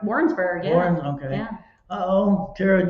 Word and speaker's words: Warrensburg: Warrensburg, yeah.